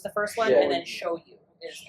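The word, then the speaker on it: shoyu: I'm getting the first two like the pronunciation. It's sh hio is the first one. And then show you is s h o yu.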